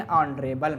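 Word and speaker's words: honourable: आगे देखते हैं, ही इज़ नॉट क्या आएगा, एन ऑनरेबल मैन, यहाँ एच क्या है, साइलेंट है, तो ओ क्या है, आपका वावेल का साउंड है, इसलिए एन यूज़ करेंगे।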